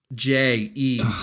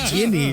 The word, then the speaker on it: Ginny: Can you spell it for me? How you have it? I have Jeaneayi. Ginny.